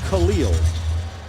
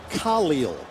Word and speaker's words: Khalil: Not Khalil. It is Khalil. Emphasis on the Ka.